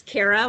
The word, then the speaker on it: Kara: Next up, we have Kara, sorry if I'm mispronouncing your name. And you should be able to unmute yourself. Hi there, it's Kara, like Sarah.